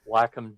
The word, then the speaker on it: Wacom: company pronounce it so i think he said like what you do with your dog you walk them when they first came